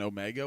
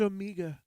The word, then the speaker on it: Omega: I I start when when they said her name is Amiga I immediately thought and sat there and thought I've been mispronouncing this the whole time like is it actually